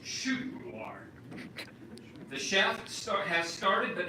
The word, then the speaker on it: köttbullar: Meatballs in Swedish is pronounced köttbullar.